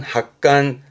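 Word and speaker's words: 発汗: 발음은 학간, 학간.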